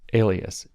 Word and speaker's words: Elias: up let me say his name again maurice alias e l i a s you should go